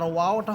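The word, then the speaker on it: و: আর ওয়াওটা হবে দুই ঠোঁট থেকে, ওয়াওসের উই, সম্পূর্ণ আওয়াজটা হবে ঠোঁট ঠোঁট থেকে, এটা মুখ থেকে হবে না, মুখ থেকে বললে সেটা আপনার হামসা হয়ে যাবে।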